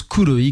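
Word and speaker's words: Kroi: Le groupe s'appelle Kouoi. Alors ça s'écrit K R O I mais ça se prononce Kouoi comme noir en japonais.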